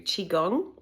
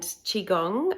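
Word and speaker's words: qigong: just now but pretty frequently I do do chiong so chiong is spelled Qi g o n g and I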